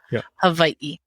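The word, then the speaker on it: Hawaiʻi: think people should say Hawaii correctly too so let's just say it correctly again let's just repeat it the W is sometimes pronounced as a v but there's definitely what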